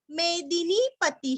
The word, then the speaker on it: मेदिनीपति: कपिलाचार्य कृतज्ञो, कृति का कृ, त के ऊपर आघात और ज्ञो, कृतज्ञो मेदिनीपति ही, मेदिनी का दीरस्व नी दीर्घ, पति का तीरस्व और विसर्ग का भी रस्व ही, मेदिनीपति ही, मेदिनीपति ही।